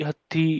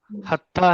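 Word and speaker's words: حتی: हत्ता है, हत्ती नहीं है।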